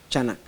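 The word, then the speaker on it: חנך: Se escribe así, C-H-A-N-A-C-H, chanak, como se escucha.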